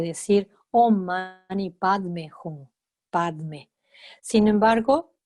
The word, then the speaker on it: Padme: Sin embargo, los tibetanos no podían pronunciar ese Padme y entonces quedó Peme, porque ellos cuando tienen la sílaba Pad en cualquier otra palabra tibetana la pronuncian P, la Da queda muda, pero cambia la A en E, entonces Pad queda P.